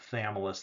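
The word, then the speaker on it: Chthamalus: And then the small ones are called thamus. The ch is is silent.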